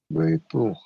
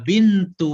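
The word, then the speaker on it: بنتُ: Baitu. Bukan baitu Bu. Bintu Iya, bintu. Bintu Hamidin fi madarosati Fil. fil madarosati wa bintu Muhammadu fil Muhammadin. Muhammadin. Jadi bintu Hamidin Muhammadin fil madrasati wa bintu Muhammadin fil jamiati.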